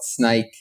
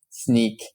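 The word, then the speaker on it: Snyk: and everyone uh no one knew how to pronounce it uh they call it snike snook sneak and then I found out after working there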